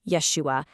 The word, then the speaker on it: Yeshua: We're going to follow this specific linguistic trail they lay out, which argues that one of these pronunciations, Yahshua, was the original, and the other, Yeshua, actually came about much, much later because of some very specific changes.